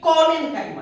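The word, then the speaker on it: Collenchyma: ये क्लोरेन्काइमा है, ये कोलेन्काइमा है। थोड़ा सा प्रोनाउंसिएशन का अंतर है, देखिए क्लोरेन्काइमा और ये कोलेन्काइमा।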